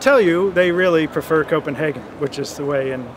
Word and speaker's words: Copenhagen: Center's Environmental Change and Security Program here in Copenhagen, where the site of the December Conference of